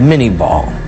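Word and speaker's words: Minié ball: tumbling end over end today we call it the mini ball little Corruption of the French pronunciation but a conical shaped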